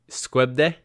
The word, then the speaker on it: Skövde: Skövde. Is that close? Skövde.